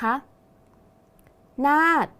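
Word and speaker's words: นาฏ: อีก ครั้ง นะ คะ หน้า อ่าน ว่า หน้า สังเกต คำ ว่า หน้า นะ คะ มี ฏปฏัก เป็น ตัว สะกด ออก เสียง พยัญชนะ ท้าย เหมือน ด เด็ก ดัง นั้น คำ ว่า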